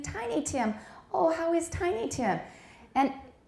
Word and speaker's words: Tiny Tim: and do we say tiny tim or tiny tin is it a compound or not no so how do we say it tiny tim that's right but the actress kept saying tiny tim oh howie's tiny tim